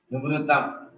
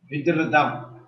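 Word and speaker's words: विधृतम्: Vivritam. Vidhritam. Vidhritam. This is not sounding correctly. Dhakara is a Mahaprana. Vidhritam. Vidhritam.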